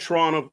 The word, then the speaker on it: Toronto: Adam is a former the T in Toronto was silent. Toronto. A lot of Toronto, like a lot the